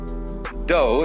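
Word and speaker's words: 道: the science of Judo doe is the way the Japanese pronounce Dao ju means gentle Judo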